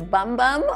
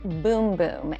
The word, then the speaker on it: Bum Bum: Brazilian boom boom cream I know it looks like it says bum bum on the little jar here but in Brazil they pronounce it boom boom and trust us the